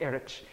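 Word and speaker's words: Erraid: Apparently, Erich is how it's supposed to be said.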